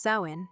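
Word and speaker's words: Samhain: Among these, the most profound, the most sacred, and perhaps the most quietly mysterious, was samin, pronounced sin.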